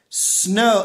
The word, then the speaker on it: Snom: it for my audience snow it's like snow with an M on the end so snow is the